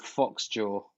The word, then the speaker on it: Phoxjaw: and the band's called Foxjaw. That name rings a bell. And it's spelled PHOXJAW. Foxjaw. The album's called Royal Swan.